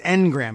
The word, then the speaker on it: Ngram: like according to Google's it says Engram it's just at capital n gr a.m.